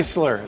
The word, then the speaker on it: Neisler: Neisler, like nice guy.